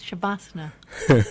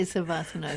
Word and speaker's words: shavasana: Oh, I like the way you pronounce shavasana. I say savasana, shavasana.